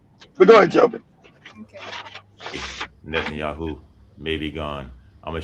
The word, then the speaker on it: Netanyahu: Be nice if you can pronounce his name. It's Netanyahu. How about that? like Joby said, learn correct English. Netanyahu.